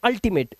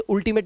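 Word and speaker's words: ultimate: यह कह रहा है यू के बाद अगर दो कोंसोनेंट आपको मिल जाए तो यू का जो उच्चारण है वो आ हो जाता है।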